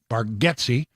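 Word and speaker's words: Bargatze: 10:30 to watch Nate baretti that's that's the correct way to say it baretti apparently he's been saying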